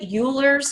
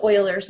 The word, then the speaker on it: Euler: have what's called Euler's number it looks like Euler's number but it's actually pronounced Euler's number you can google that too this is